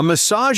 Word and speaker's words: massage: So, pay attention to that vowel sound in the middle. Message has more of an e sound while massage has an a sound.